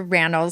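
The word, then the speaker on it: Rannells: Okay, first off, when I had Andrew Ran on, he had to teach me. He was like, "It's ran rhymes with panels."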